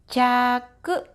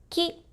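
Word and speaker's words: 着: For onyomi, this is pronounced as jaku and jaku. For kunyomi, you can pronounce as ki and tsu.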